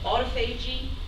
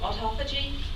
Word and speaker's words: autophagy: about this process called autophagy, also called autophagy, depending on who you talk to. And there have been many discussions in the field about the pronunciation, so I think either is correct.